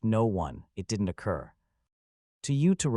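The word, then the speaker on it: Noone: It is pronounced no one.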